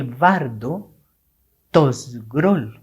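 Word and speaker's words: Bardo Thödol: From the Bard Tosgrol, which is how you say it correctly, and they call it Pardo Toichoi.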